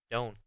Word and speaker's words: do: Entonces pongan atención que cuando está solo, esta palabra se pronuncia do, como si fuera una U. Pero cuando lo pongo en la forma corta, se pronuncia don't, como una O.